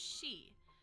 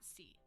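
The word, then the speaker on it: し: she this is pronounced she just like our common pronoun she it is pronounced she not C Su so so we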